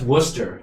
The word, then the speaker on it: Worcester: I'm from Worcester. It's actually pronounced Worcester, believe it or not.